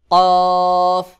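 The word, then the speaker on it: كاف: হা ফা আমজাহ কফ কফ কফ গোল মাথায় দুই নু এটার নাম কফ অনেকে কফ কাফ একই রকম উচ্চারণ করে কিন্তু দুইটার মধ্যে অনেক পার্থক্য রয়েছে কাফ স্বাভাবিকভাবে উচ্চারণ হয় আর কফ এটা শক্ত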